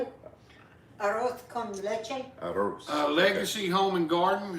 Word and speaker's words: Arroz con leche: Arroz con leche.